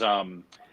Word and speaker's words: Omnevue: I would just drop one name, which is OmniView, which is spelled differently to how you might assume that you would. So it's the way that you hear it, OMNEVUE.